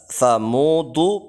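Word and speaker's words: ثمود: Kemudian untuk tahsinut tarjamah, memperbaiki tata cara menerjemahkan Al-Qur'anul Karim pada ayat yang ke-11, yaitu kadzabat Tsamudu bitaghwaha. Ini agak sulit membacanya antara ta dengan tha.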